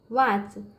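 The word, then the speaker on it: watch: गया यहां देखिए बच्चों वाच डबल ए से वा ठीक है टी साइलेंट है सी से च वाच वाच में होता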